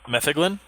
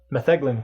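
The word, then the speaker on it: metheglin: it's cool to hear there's a couple different pronunciations or am i just wrong i mean i'm sure it's like tomato tomato or something like that i'm pretty sure it's you know interchangeable there are no tomatoes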